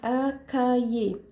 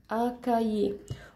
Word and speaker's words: un cahier: لي قاعده نطق كده قاعده نطق اللي هي ايه القش اي او ار بتنطق ي بتتنطق ي فانا اي كلمه اصلا سواء دلوقتي او بعدين فيها الجزئيه دي هنطقها يا هنطقها يا فبقول اكاي طيب اللي